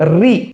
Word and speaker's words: ऋ: इसका उच्चारण है री, री, इसका है री, री, ये विपरीत है, हाँ, अभ्यंतर प्रयत्न में अंतर है।